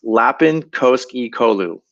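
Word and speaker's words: Lapin Koskikoulu: International Rafting Federation, and it's pronounced Lapin Koski Kolu.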